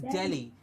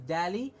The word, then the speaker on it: Delhi: the country is Delhi yes it is Delhi and not any other word or any other pronunciation as Dahle it is Dell as Delhi okay Delhi we have